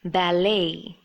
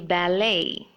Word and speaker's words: ballet: This is a form of dance and it should be pronounced as ballet. Here the T is silent. So it should be ballet.